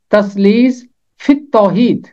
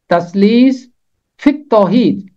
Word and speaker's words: تثلیث فی التوحید: بڑی مشکل میں پایا۔ اس کا تلفظ ہے تثلیث فی التوحید، تثلیث فی التوحید۔ یہاں چھوٹی یہ بھی خاموش رہ جائے گی اور لام بھی خاموش ہے، فے ملے گا جا کے تے کے ساتھ، فی التوحید، تثلیث فی